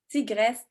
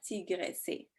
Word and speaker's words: tigresse: On ne dit pas tigressé, on dit tigresse. Le dernier E est muet. Tout comme le mot vitesse ou maladresse.